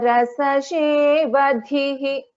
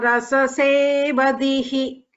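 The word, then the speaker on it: रसशेवधिः: Rasagnya rasashevadhihi. Rasagnya rasasevadhihi. This is sha, shankara sha.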